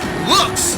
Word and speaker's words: Lewks: Now it's pronounced looks, but it's spelled Lewks. It's a fashion term, Nathan.